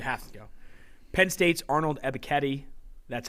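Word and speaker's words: Arnold Ebiketie: gotta go you have to go penn state's arnold ebiketti that's how you pronounce it i asked him himself he's a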